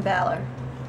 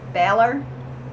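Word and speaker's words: Bálor: his last name wrong I always want to say Balor I think it's like Baler I always say it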